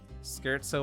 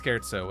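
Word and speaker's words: Scherzo: So, I would say Flare in hand, scarzo on top. And yes, it's pronounced scarzo and not scarzo.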